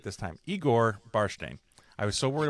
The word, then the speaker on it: Igor Barshteyn: Igor Barshteyn. I was so You worried about got it.